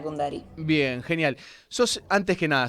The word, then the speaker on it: Cundari: Gina, primero, ¿pronuncio bien tu apellido? Kundari, ¿está bien así? Sí, perfecto, Gina Kundari.